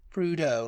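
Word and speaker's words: Prudhoe: have pronounced it then I would have PR pronounced it prudo prudo prau yeah yeah prudo like cludo and where is it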